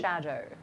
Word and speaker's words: Shadow: I'm going to No, it's Shadow. That's how you say my name.